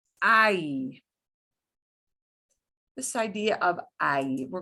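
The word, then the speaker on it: hay: this verb i which does not mean hey and is not pronounced like hey i i means there is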